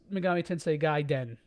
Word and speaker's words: Megami Tensei Gaiden: Yeah, it's pronounced Megami Tensei Gaiden.